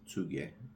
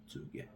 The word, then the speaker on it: Tsuge: That's how I pronounce it, Tsuge. I know that they pronounce it different in the documentary, but from my knowledge, it's Tsuge.